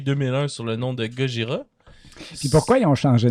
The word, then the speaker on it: Gojira: me semble qu'il ont choisi gogira parce que c'est la prononciation plus japonaise de godilla ah goda goda sais